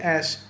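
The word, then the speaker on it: ijzer: So for example, the word iron in Dutch as in the metal iron is called a and also try to pronounce the rolling R at the end. We write this as I J Z E R. So also mind the Z in the middle Z.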